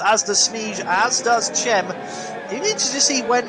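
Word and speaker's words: Cem: It is Chem, certainly not Sem.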